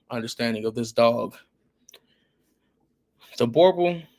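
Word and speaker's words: Boerboel: Borbal or South African Borbal. I guess the other way to say it, well, the real way to say it is Burble. But us Americans, we add our twang to anything.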